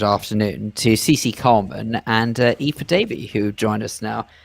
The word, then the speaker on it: Aoife: It's pronounced Aoife.